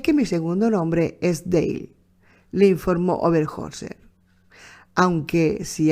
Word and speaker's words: Dale: nota quiero Añadir aquí yo digo Dale pronuncio dail pero está escrito por